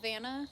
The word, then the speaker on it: Vanna: Oh, Vanna.